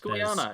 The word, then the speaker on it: Goiânia: No, it's Goiânia.